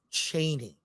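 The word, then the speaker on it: Chani: nerd cookie Channel um she says Frank Herbert pronounced it Cheney yeah I know but people in the movies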